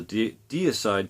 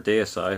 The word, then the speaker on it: Deicide: One is a deicide cover, or deicide, however you want to pronounce that, Sacrificial Suicide, and the